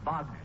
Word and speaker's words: Wagner: That's pronounced Wagner, son.